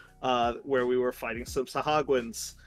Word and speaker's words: Sahuagin: we were fighting some Sahagwans, which is, I think, the correct pronunciation that it is.